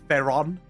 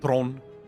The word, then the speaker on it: Theron: Did I just get triggered when people say Theron? It's like, bro, come on, please. You're from South Africa. It's Tron.